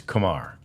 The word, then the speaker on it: Kumar: most of the media it's like Lamar It's Kamar uh which is a good way to remember it and uh that is how the correct pronunciation of of rocker's name is Kamar rocker it's it's so exciting